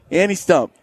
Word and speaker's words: Stumpf: pronounce the f people any stump and is that that's how you say right tree stump with an F on the end stump you do be